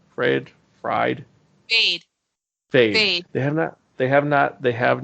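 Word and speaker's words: Feyd: Fried, Fade. Fade. Fade. They have not cast him yet. So I'm leaving that to open to see how that goes. Fade Rotha.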